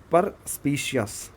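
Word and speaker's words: perspicacious: इस वर्ड को थोड़ा सा प्रोनाउंस ठीक से करना है। देखो, पर स्पीशियस, ठीक है, पर स्पाइसियस एक वर्ड होता है।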